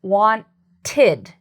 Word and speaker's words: wanted: So I want to first say that id is like its own syllable. So you'll see what I mean in a moment. So we have the word wanted. You heard id. This part has two parts. Want, id.